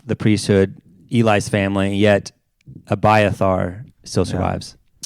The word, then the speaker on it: Abiathar: Yet, how do you pronounce that again? Abiathar. Abiathar. I always grew up however you want. I always grew up saying it something different. Say it. Say it. Abiathar?